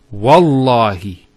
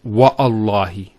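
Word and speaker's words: والله: it, and we say, Wallahi. This waw here is actually known as waw al-qasm, the waw of swearing an oath. So when we put this waw, it's Wallahi, not Wa'allahi.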